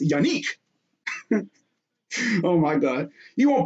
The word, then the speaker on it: Yannick: okay now of course this first name is yanique it's yanik oh my god you won't believe how many times i've seen people mispronounce this dude's last name it's honestly hilarious